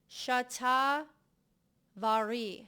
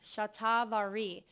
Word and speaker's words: Shatavari: I just want to make sure I'm pronouncing these correctly for you. Macaroot, ashwagandha, and chat vari. Shatavari.